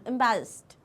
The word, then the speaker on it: embarrassed: Okay, अब इसमें last में ड का साउंड नहीं आता, ट का साउंड, embarrassed.